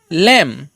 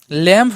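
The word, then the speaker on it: lamb: হ্যাঁ এর রুলসটা হলো যখন কোন শব্দের শেষে যখন বি থাকছে কিন্তু সেই বির আগে কি থাকে এম তাহলে কিন্তু আমরা সেই ক্ষেত্রে বি এর উচ্চারণ করবো না আর কি বির পরে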